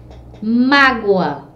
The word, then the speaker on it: mágoa: sílaba forte por exemplo nós temos aí a palavra mágoa a mágoa a gente já sabe que a sílaba tônica da palavra é má certo mas é essas